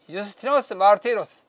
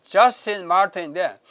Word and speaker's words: 유스티노스 마르티로스: 신약에 와서도 요한이 그리스도를 로고스라고 칭하자 교부 유스티노스 마르티로스, 영어로 하면 저스틴 마르틴인데 원래 이 사람 이름은 이제 뭐 로마 사람이니까 유스티노스 마르티로스 이렇게 해야 발음이 맞습니다.